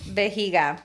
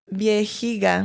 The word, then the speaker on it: vejiga: Vejiga. Dude, I didn't even know that. What the heck? Vejiga? Yeah. Viejiga.